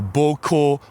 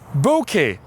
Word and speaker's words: bokeh: Basically, they say bokeh or boko or boku or whatever. It is wrong. You can refer to the technical papers that was commissioned by Mike Johnston originally on how to pronounce the word bokeh. It is bokeh.